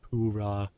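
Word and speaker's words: Purah: Still wild that it's pronounced Poorah.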